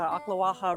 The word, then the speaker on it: Ocklawaha: All right, we just pulled up to this gorgeous area that's right next to the Ocklawaha River.